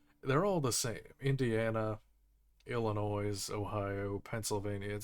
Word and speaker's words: Illinois: I'm saying it wrong oh Illinois oh Illinois I guess you don't say the s whatever it does it